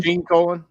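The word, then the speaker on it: Gene Colan: again now yeah colon is that how you pronounce it colon gene colon oh gene colon yeah yeah yeah he did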